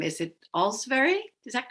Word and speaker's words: Olsvary: children fifth graders miss all's very they didn't know how to say it o-l-s-v-a-r-y so i told them it was it was pronounced as if you were saying all's very well thank you the next day i